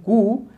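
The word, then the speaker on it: coup: Next है who played an important role in the disintegration and कू against USSR. इसको कूप नहीं पढ़ेंगे, P silent है, कू पढ़ेंगे। ठीक है, तो सोवियत लीडर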